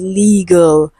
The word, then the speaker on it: legal: Okay, so the word is not legal, it is legal. Okay, legal. L E G. We have the schwa sound and L.